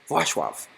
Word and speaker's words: Wrocław: I'm told that's how it's pronounced. Wrocław, Breslau, Poland.